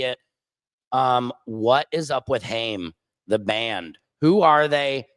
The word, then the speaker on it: Haim: Who is a Haim fan? Let me know in the commentaries. No offense, Haim. I'm just not into him. No offense, Haim. I think you're lame. I think it's actually pronounced Chaim.